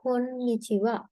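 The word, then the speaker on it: こんにちは: ඒකට කියනවා අපි කොන්නිචිවා. කොන්නිචිවා. ඒතර මේක කෝ එන් නී චි මෙතනත් හිරගන හා කියන ලෙටර් එක තමයි ලියනකොට ලියන්නේ. හැබැයි ප්‍රොනවුන්ස් කරනකොට මෙතනත් වා කියලා තමයි ප්‍රොනවුන්ස් කරන්නේ.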